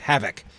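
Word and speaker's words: Hafoc: Because a single F in the middle of a word like that in Anglo-Saxon would be pronounced voiced as a V. So H-A-F-O-C. His horse is literally named Havoc.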